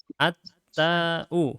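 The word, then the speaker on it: التاء: Bacanya bukan tu tapi bilang at-ta'u. Ata'u.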